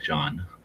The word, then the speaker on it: Jean: was um oh yeah Jean has a long mustache Jean John it's all it's basically same name just spelled and pronounced differently well I think in the show it sounds more like John yeah or in the movie yeah because it's a french guy saying it in French yeah it's eating his